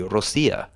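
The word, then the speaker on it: Россия: And on that note, isn't the pronunciation of Russia? It's actually would be Rossiya, right?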